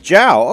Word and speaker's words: Zhao: Zhao. And... So it's Zhao, okay.